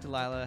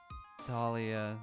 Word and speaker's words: Dahlia: I feel like Delilah has gained some different letters in Cole's pronunciation. Dahlia. God damn it. I didn't even think twice. It was just Delilah when I read it. Dahlia.